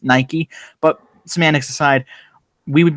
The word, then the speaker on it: Nike: this territory of Nike which he pronounced night that's Nike but semantics aside we